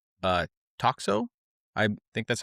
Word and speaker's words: Toxo: And another project, I think this is your subsequent project called uh Toxo. I think that's how you Toxo, pronounce it. that's this one. Tosho?